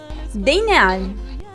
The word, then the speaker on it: Deineal: Sentiamo come si pronuncia a Bellino, Deineal, a Perrero, Deinal, a Sampeire, Dinial, ad Acceglio Denial, e a Pomaretto.